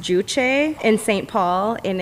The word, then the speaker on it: Juche: But we recently went to, I think it's pronounced Juche in St.